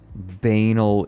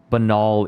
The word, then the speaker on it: banal: is a moment that really it highlighted his banal evil Bal evil banal benol evil is one of those words I've read more than I've pronounced banal where is it Alexander I'm going to convince